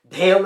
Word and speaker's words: Dhail: Dale and Jail are weird names. The H is silent.